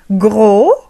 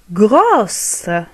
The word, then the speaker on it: gros: Gros, grosse. Samine, samina. بالنسبة للمذكر le masculin نقول gros، لا ننطق حرف S الذي لدينا في الأخير، نقول gros, gros, gros.